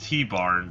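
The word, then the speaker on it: Tibarn: that's three dragons then there's tie barn which yes I know it's pronounced T barn but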